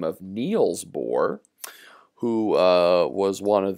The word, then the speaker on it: Bohr: something known as the bohr effect and i'll just spell that for you guys it's b o h r this is the bore effect and the bohr effect